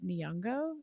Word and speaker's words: Nyong'o: Anyways, for Lauren, I was thinking Lupita Nyong'o. Is that how you pronounce her last name?